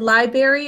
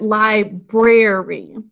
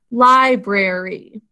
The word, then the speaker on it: library: But we should be pronouncing it library. Can you sound that out with me? Library. We actually do say the R in this one. Library, three syllables.